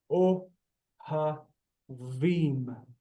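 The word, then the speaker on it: אוהבים: O ha vim. Shawarma. Anachnu ohavim. You can hear the ending im, meaning it's plural male.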